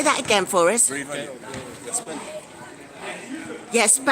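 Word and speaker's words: Bray Valiant: Brave Valley. Yes, spell it, peoples.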